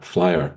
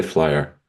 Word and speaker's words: flyAR: well what no that was in English yeah flyer I say flyer okay you can say fly a can you describe to a new person that doesn't know flyer in one sentence I'd say flyer is um